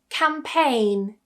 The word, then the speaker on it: campaign: Our first rule is when we have the letters G and N together at the end or towards the end of a word, we tend to remove that G completely, so don't try and pronounce it.